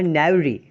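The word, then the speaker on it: knavery: Word है वो है नेवरी, के साइलेंट है, दैट्स कॉल्ड नेवरी।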